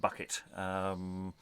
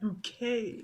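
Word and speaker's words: Buckett: Yes, Master Roland Bucket. It's pronounced bouquet.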